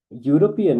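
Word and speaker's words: European: यूरोपियन में ई जो है ना साइलेंट बिहेव कर रहा है और वर्ड जो है ना यू का आवाज़ जब भी यू का आवाज आएगा यानी कि यू एज a consonant Y behave करेगा तो वहां पे फिर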